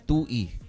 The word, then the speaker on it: Tuy: Merong lugar na Tuy ang pangalan. Oo, sa Rizal din may Tuy din, pero ang pronunciation ng mga taga Rizal ay Tui. Tuy, ito T-U-Y.